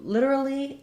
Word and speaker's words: literally: American English literally um we tend to say uh litera Lee um first syllable stress literally this T is a flap literally um and I